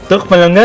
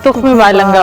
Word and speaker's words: तुख्म बालंगा: तुख्म मलंगा नहीं होता, तुख्म बालंगा होता।